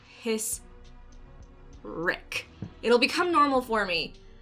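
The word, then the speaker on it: Hissrich: still working on it her last name is spelled hiss and then rich but she says the H with a K and for some reason my brain just wants to keep saying hey rich his Rick it'll become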